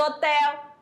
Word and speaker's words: hotel: O H não tem som, ó, a pronúncia é a mesma, você já sabe que H é com H, o hotel é com H. Mas na pronúncia, ele, né? Some.